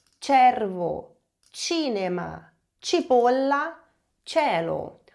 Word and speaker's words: cielo: O mesmo vale para a língua italiana, onde o E e o I são os diferentões, digamos assim, porque eles mudam a pronúncia do C e do G.